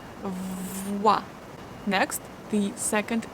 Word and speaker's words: voix: O-E give us wa sound. So we start voix, voix.